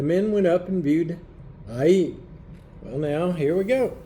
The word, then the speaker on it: Ai: The way it's pronounced in the dictionary, it's Ai. I thought it was Ai, but it's Ai.